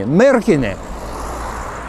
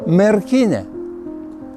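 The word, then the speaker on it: Merkinė: and he told me merkin putting an accent on the first syllable i told him marriage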